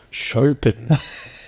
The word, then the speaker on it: Chopin: Chopin. Is that how you pronounce it? Yeah, it rhymes with Topin.